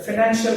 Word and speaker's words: financial: The financial has three syllables. They are financial. Okay. The stress falls on the man because it is the second syllable from the end.